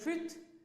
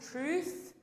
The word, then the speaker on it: truth: with a vowel sound where people say truth but it should be a long vowel sound truth and that end of the word is a th sound and it has that sound it's not truth but it is truth another place where we